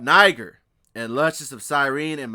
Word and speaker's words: Niger: The term Niger equals black. And Niger is not how you pronounce it. You really say Niger.